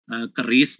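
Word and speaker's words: QRIS: Nah, untuk mendukung di situ kita juga membuat standar KRIS ya, KRIS bacanya.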